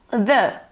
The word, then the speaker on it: the: Vai depender da palavra que vem em seguida. Então, aqui nós temos esse exemplo. The car. O carro. Então, the. Normal, pronúncia que eu já falei para vocês. Mas aqui a gente usou essa pronúncia porque car começa com C, uma consoante.